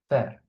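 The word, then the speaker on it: faire: So I will stop at the R sound fair or fair. Okay. Fair. And so ai it's pronounced like e fair.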